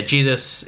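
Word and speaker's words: Zedus: Jedus, I think is his name, or Jedus. It's spelled with a Z, actually, Z-E-D-U-S, but it's pronounced with a J. So yeah, Jedus is a cool looking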